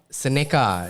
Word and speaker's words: Seneca: the next project, please pronounce it as Seneca.